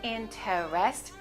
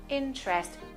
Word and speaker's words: interest: they make it difficult the first one is the first e is silent so we don't say inter-rest we say interest only two syllables good interest okay we